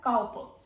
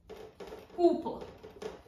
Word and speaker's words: Cowper: Ideally, it should be pronounced as Cowper, but no, we pronounce it as William Cowper.